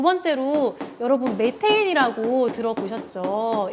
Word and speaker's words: 메테인: 두 번째로 여러분 메테인이라고 들어보셨죠? 옛날에는 메탄이라고 했는데 요즘에는 메테인이라고 얘기를 해요. CH4. 발음이 좀 바뀌었어요. 메테인으로.